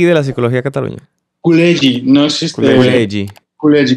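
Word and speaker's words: Col·legi: Colegi, no existe. Colegi. Colegi, colegi. En catalán, las O's que no son, que no se pronuncian fuerte, las O's átonas, se pronuncian U, y la G aquí,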